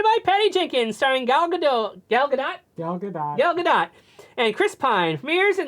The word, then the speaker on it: Gal Gadot: Yeah, everybody gets the things of Waiting for Godot, and they think that's how you say it, but it's Gal Gadot. That's how she pronounces it.